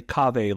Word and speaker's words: Kaveh: So I say Kaveh like agave.